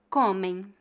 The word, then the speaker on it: comem: cembra cembra muito muito Note que palavras que terminam com as letras am m ou e m apesar de não serem escritas com duas vogais são pronunciadas como de tongos o de tongo a m é pronunciado como ão e o de tongo e m é pronunciado como em a letra M Não é pronunciada vamos ver alguns exemplos